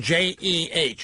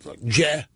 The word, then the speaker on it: Jeh: He said yesterday, John, J-E-H is how he spells it. Jeh. Hey, Joe John. He pronounces it Jeh Johnson, right?